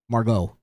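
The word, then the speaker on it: Margaux: Margot. You don't pronounce the X.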